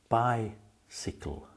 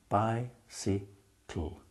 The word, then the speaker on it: bicycle: In the first syllable, bi, you have the long I sound, bi. In the second syllable, si, the Y is short. You don't say si, you say si. So we say bicycle.